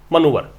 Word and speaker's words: manoeuvre: इन अनदर round of टिट फॉर टैट मनूवर्स, क्या पढ़ते हैं इस शब्द को? मनूवर। इस शब्द को पढ़ा जाएगा मनूवर। इसका उच्चारण भी इंपॉर्टेंट है, मनूवर।